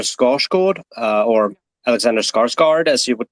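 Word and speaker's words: Skarsgård: would be Alexander scos Cod uh or Alexander scarg guard as you would pronounce it or he who played Robocop in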